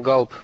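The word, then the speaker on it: Gulp: Значит, Но такого рода он галп правильно произносится. сори, я заменил английский. Я думаю, глуп. Ну ладно. Так. Так, для того, щоб це зробити, потрібно додати. Макс, точно галп? Бо я знаю, що глуп.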